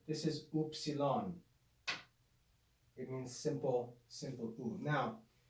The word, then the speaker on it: upsilon: a vertical line looks like an uppercase y oopsilon oopsilon the lowercase form can be written just